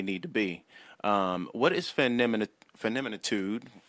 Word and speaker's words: Feminitude: What is feminitude?